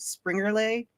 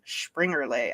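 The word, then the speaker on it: Springerle: all the different ones so if you put spring relay it's s p r i n g e r l e spring relay it's springerlay actually is how you pronounce it but um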